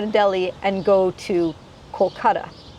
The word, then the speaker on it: Kolkata: It used to be Calcutta. It was originally Kolkata, then the Brits came and changed it to Calcutta, and now all these Indian cities are going back to the original pronunciation, so Kolkata, and that's where my family originates from.